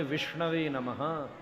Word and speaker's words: विष्णवे नमः: शुद्ध उच्चारण है विष्णवे नमः।